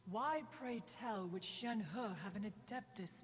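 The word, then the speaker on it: Shenhe: wish i'm correct however shen her is human sorry gotta say it like that gotta say it like you're getting punched in the stomach halfway through it's like how you have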